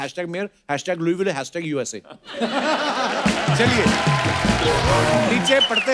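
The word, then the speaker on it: Louisville: आगे तभी बढ़ेंगे लुईस जब लिखा है तो स क्यों नहीं बोल रहे जैसे नाइफ में क साइलेंट होता है के साइलेंट होता है वैसे वो तो के पहले आता है ये तो बीच में घुसा हुआ है बट कई बार लुईस प्रोनाउंस होता है एस के साथ और कई बार नहीं वो कई क्यों नहीं होता है कब होता है ये मुझे पता नहीं है मेयर ऑफ लुई विले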